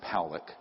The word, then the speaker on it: William Pollock: This man, William Pollock, his name is pronounced Powlick, was a man, very good man, who gave me an interview only to be released posthumously after he died.